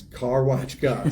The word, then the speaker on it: Karwaczka: Well, I'm asking for people, if you see this and you see my signs and they're like, how do you say that weird last name? It's Karwaczka.